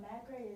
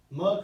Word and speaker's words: McRae: It's Helena and not Macrae, it's Mugcrae. McRae.